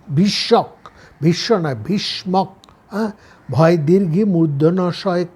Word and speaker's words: ভীষ্মক: কি কংশ নিজের পিতা উগ্রসেনকে বন্দি করে রেখেছিলেন ভীষ কিন্তু ভীষক ভীষণ নয় ভীষ্মক ভয় দীর্ঘ মূর্ধনশয় কী মক ভয় বানানটা হচ্ছে ভয় দীর্ঘি ভি মূর্ধন্যস কয় মীষ্মক